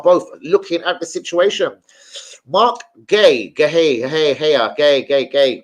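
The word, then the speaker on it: Marc Guéhi: actually say it now I don't care which H and I you want to put in it it's Mark Gay I think I actually do believe that is the way you pronounce it linked with Arsenal Man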